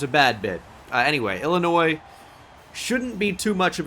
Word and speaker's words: Illinois: Is that how do you say that? Oh. Oh, it's Illinois.